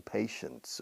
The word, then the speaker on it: patience: But maybe he has some patience, okay? So it's the paciencia y pacientes have exactly the same pronunciation.